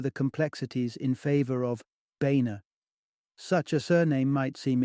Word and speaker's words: Boehner: the baina name bearing its German Roots originally pronounced boner underwent an Americanized transformation that glossed over the complexities in favor of baina such a surname might seem inconsequential except when